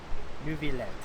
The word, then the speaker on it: Neuvillette: Neuvillette, that's how you pronounce it.